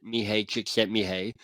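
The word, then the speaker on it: Mihaly Csikszentmihalyi: This is how I Yeah, mispronounce it. Mihai Csikszentmihalyi.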